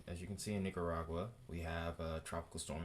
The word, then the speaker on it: Nicaragua: on both sides of Nicaragua Nicaragua I don't know why I keep trying to add that extra syllable in there but um as you can see in Nicaragua we have a tropical